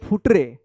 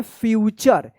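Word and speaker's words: future: या फ्यूटरे। यह फ्यूटर नहीं होगा। इसको पढ़ेंगे फ्यूचर। एफ यू से फ्यू होगा और टी जो है ना यहां पे टी यू से क्या होता है? च उच्चारण होता है।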